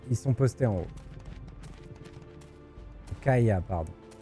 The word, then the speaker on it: Kya: pas vu au-dessus de kya ok ils sont postés en haut ka pardon j'ai jamais mis'y faire au fait que ça se prononce k allez viens au fait